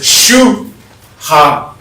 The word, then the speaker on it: shuhari: So, the concept is shuhare. 3 separate syllables.